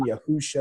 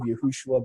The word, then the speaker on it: Yahusha: It's basically the 1611 King James with Yahuwah's name back in it, and they use the pronunciation of Yahushua. So the only really mistake they made was not using Yahusha instead of Yahushua, but that's not a big deal to me.